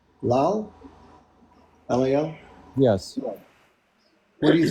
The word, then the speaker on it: Lal: Is it pronounced Lal? Lal?